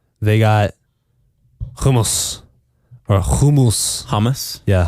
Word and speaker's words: hummus: Hummus? Yeah, hummus. That's what Americans say, but it's hummus.